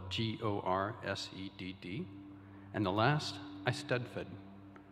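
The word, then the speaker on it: eisteddfod: is gorset spelled g-o-r-s-e-d-d and the last i studford spelled e-i-s-t-e-d-d-f-o-d ahwan translates as inspiration whether that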